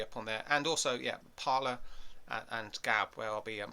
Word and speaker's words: Parler: Gab channel down below, and also Parler, or Parlay I think it's pronounced.